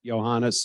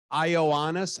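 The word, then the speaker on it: Iohannis: pronounce this guy's name IO honest I said no no Johannes okay Johannes when did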